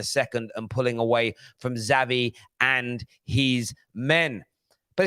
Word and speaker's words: Xavi: Pronounced Xavi.